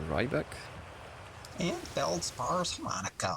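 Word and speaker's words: Riebeck: these names was incorrect I thought it was shirt and rebeck but apparently it's chirt and Rybeck and Bel spars har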